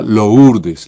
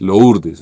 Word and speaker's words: Lourdes: las afueras de Bogotá, pero siempre se mencionado Lourdes como derivado de su pronunciación francesa. Pero en norte de Santander, si ustedes van a este bello pueblo, allá se llama Lourdes, loes. Así que por favor adáptense a la pronunciación que le tienen los locales.